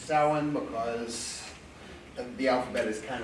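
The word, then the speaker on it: Samhain: couch yes I know it looks like it's pronounced same name but it's not it's sowing because the alphabet is kind of optional but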